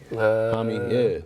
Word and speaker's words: Jaime: Jaime? But it's spelled Jamie. Jaime, Jaime Jaquez.